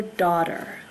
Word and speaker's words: daughter: girl child is your daughter this word does not sound how it is spelled so you do not hear a g this is daughter okay if you have